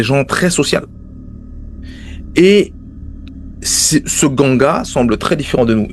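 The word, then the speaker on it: Nganga: Alors ça s'écrit N-Ganga ou N-Koum, mais ça se prononce Ganga ou Koum.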